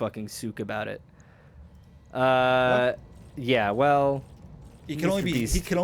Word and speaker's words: Suk: Souk. How am I supposed to pronounce it? Suk.